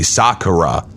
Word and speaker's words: Sakura: correctly you're overanalyzing it Japanese there's no you don't put actually accent on any syllable so you could literally say just suck it up that's it it's as simple as that it's very rare if